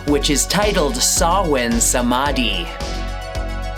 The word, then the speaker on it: Samhain: So let's get into chapter 2, which is titled Samhain Samādhi. Or if you're gonna pronounce it wrong, Samhain Samādhi.